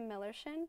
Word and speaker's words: Millerschin: my name is Olivia millerin yes it's spelled like if you had a friend named Miller it'd be his chin so just search that